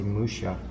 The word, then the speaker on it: Mucha: even say it right it's supposed to be Musha Musha yeah Musha oh my